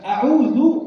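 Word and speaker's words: أعوذ: A'udzu pakai dal, bukan zai. Kalau pakai zai artinya bukan aku, kalau pakai dal aku berlindung dari godaan syaitan.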